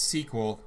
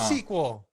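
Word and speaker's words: SQL: Yeah, so people were just talking about the pronunciation of certain words, and for databases there, it's sequel, and you can fight me. It is sequel. Damn straight. It's literally sequel.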